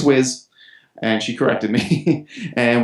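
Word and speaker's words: Wyss: with Amanda Wiz, and that is how she pronounces it. That's Tina from Nightmare on Elm Street. I called her Weiss because I thought Weiss just is a cool name, but it's Wiz.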